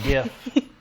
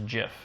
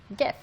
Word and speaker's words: GIF: I would call it a GIF. Because it stands for graphic. Oh, The person who came up with that word says GIF. Really? But he is wrong. Yeah, it's a hard G. GIF.